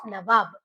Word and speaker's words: Nawab: Nabob is nothing but mispronunciation of Nawab. They were not able to pronounce Nawab, so they started pronouncing it as Nabobs.